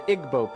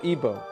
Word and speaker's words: Igbo: Africa you have the Igbo people or EO pronounced either way there's 40 million of